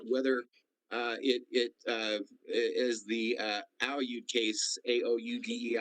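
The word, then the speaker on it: Aoude: as the Aoud case, A-O-U-D-E, I believe is pronounced Aoud case, indicates that it has to have broad powers to manage the proceedings.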